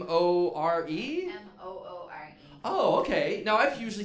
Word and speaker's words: Moore: Now, is it More? Moore.